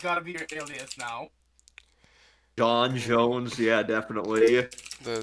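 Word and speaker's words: J'onn: I want to say it was it might have been John. Yeah, I think that might have been John. All right, and how do you spell that? J Z ONN. The Z is silent.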